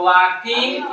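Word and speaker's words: walking: पढ़ने कौन चीज वाकि एल नहीं पढ़ते हैं। एल साइलेंट रहता है। तो वाकिंग इन द मॉर्निंग।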